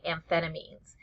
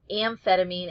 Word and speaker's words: amphetamine: a m i NE so the sound is the same it's either going to be an F or it's going to be a pH um amphetamine is spelled with a pH but Liz dexamphetamine the